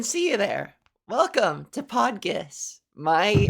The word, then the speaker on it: PodGis: them hey it's pronounced podus two syllables really hit that G it's a hard G it's a hard G